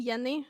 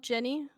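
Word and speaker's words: Jenni: You know why I pronounced my name Yenni and not Jenny? Why? I figured it was an accent. In Swedish, yeah, in Swedish, we don't have the the noise that you have in English. So RJ is pronounced Y Y. RJ is pronounced Y. So that's why it becomes like Yump.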